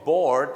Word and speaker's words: bored: ตรง นี้ นะ ครับ ต้อง ออก เสียง board แต่ บาง คน ไป